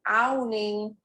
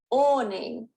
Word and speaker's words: awning: word ought a lot of students say this as owning so be really careful it means you're getting influenced by the spelling awning the next one is caught